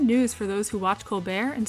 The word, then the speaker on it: Colbert: The T in Colbert is not silent in the names of the majority of his family members, but can you blame someone for trying to be fancy?